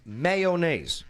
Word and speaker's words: mayonnaise: it's a classic one because you pronounce that with 3 syllables.